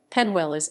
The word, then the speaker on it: Peñuelas: penniless puerto rico penniless spanish pronunciation panwellis is a town and